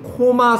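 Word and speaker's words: coma: 지금 코마 상태인 거예요. 코마는 뭐야? 얘는 발음이 코마예요.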